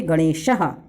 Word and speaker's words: गणेशः: फिर है ग, गा से क्या पढ़ेंगे हम लोग पढ़ेंगे गणेशः, क्योंकि इसमें बेटा विसर्ग लगा हुआ तो उसको हम लोग प्रोनाउंस करते हैं, तो उसको हम लोग पढ़ेंगे गणेशः।